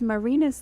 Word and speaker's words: Marinis: I don't personally own any, but if I would get Marinis, ladies and gentlemen, and her last name, Marinis. I told you it's Marinis like penis.